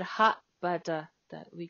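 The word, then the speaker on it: は: This has a ha. Why are we gonna call wa? Because sentence we do like this pronunciation wa, wa. Okay, wa. But when you see the word and some things, we said ha. Very confusing.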